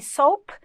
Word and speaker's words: soap: Outro que a teacher colocou aqui foi o soup e soap, porque a pronúncia é diferente, só que na hora de você ler parece que é igual, mas soup é sopa e soap é o sabonete.